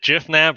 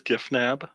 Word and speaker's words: Gifnab: question before we get this started is it jif nav or gif nab uh it is giffnab and anyone that pronounces the the word gif as jiff deserves